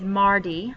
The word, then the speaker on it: mardi: see you on tuesday tuesday is mardi like in mardi gras um so you would